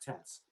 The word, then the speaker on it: This: his last name it's about this but it's pronounced tess and um there's a he breaks down each